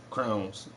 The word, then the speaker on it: crayons: just found out today some people pronounce crayons as crowns like a king wears a crown crowns who said you can't say crayons let me hold that